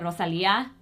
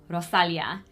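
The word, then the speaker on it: Rosalía: I am currently loving Rosalia, I believe is how you say her name, not Rosalia. Rosalia.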